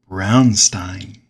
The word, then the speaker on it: Braunstein: in 1968 and that game form is called Brownstein Brown Stein Brownstein or if you prefer brunstein